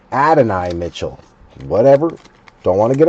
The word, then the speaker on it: Adonai Mitchell: Just like I always thought it was Adane Mitchell, but it's Adonai Mitchell.